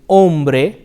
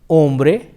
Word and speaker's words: hombre: words which is Ola hombre and armory or these words starts with the letter H however the H is silent it is Ola hombre